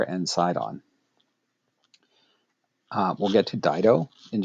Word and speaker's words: Sidon: And the two principal ones are Tyre and Sidon. I'm using the English spellings and pronunciations of those names. Tyre and Sidon.